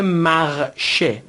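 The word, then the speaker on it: marcher: میشه در زبان فرانسوی مثل کلمه قدم زدن که میشه مغش مخش دقت بفرمایید ای که در پایان هست تلفظ نمیشه غالباً فعل‌ها هستند که به ا یا همون در واقع ایر ختم میشن و در این صورت ا تلفظ نمیشه پس میشه مغش مخش به معنی قدم زدن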